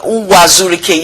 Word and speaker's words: Uwazurike: Okay, so what is your relationship with Ralph Uwazurike? I don't know if I pronounce it. Uwazurike, yes, that's his name.